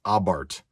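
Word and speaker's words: Abarth: is a center console for a fiat ritmo abart now this and it's yes it is pronounced abbard technically ritmo is pronounced i prefer that but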